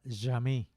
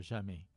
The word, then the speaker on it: Jammeh: Ese es un paisito que estuvo gobernado durante aproximadamente 22 años por un dictador que se llama Jammeh, muy parecido a la palabra francesa jamais, que significa jamás.